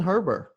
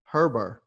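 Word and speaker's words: Herbert: too and uh justin herber herber i have i was told that the t is silent from oregon is that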